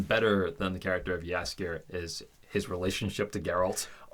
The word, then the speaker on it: Jaskier: this in season 2, is just Geralt and Jaskier. That's how you pronounce his name? Jaskier.